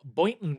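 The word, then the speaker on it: Boynton: No, I'm from Boon Beach, Florida. That's where old people who can't afford Boca Raton go to die. Spell it. Boon.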